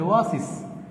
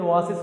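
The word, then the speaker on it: oasis: বসানো উচিত যদি আপনি ওয়াসিস উচ্চারণ করেন। এই ওয়াসিস মানে হচ্ছে মরুদ্যান, কিন্তু এর সত্যিকারের উচ্চারণ তো আপনার ওয়াসিস না, এর সত্যিকারের উচ্চারণ হচ্ছে ওয়েসিস।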